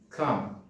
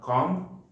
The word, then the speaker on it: calm: Calm. It's not calm, it's calm.